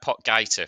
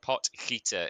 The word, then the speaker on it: Potgieter: Now, it looks like Pot Gaiter for a lot of people would say, but I did do my research on this one, and it's Pot Gaiter is how you pronounce his name.